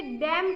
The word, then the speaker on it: damn: उसके बाद DAMN, तो हम उसे डैम कहते हैं, एन बोलते नहीं।